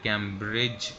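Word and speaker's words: Cambridge: ए डी और जी जैसा कि मैंने और भी समय कैंब्रिज एक लफ्ज़ लिखा हुआ है तो कैंब्रिज के अंदर भी आप देखें डिश आयरलैंड है तो आपने डी और चीनी का कोंबिनेशन जब देखना है तो डी को साइलेंट कर देना है इसी तरीके से यह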